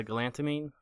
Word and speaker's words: galantamine: man's glutamine or GL gamine how do you pronounce it uh galantamine glamin that's it yeah yeah you've had a